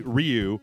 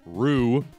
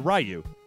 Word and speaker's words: Ryu: said said it right you would never say Ryu or Rue as some people have told me that I should be saying it so yeah we all said rayu and then I said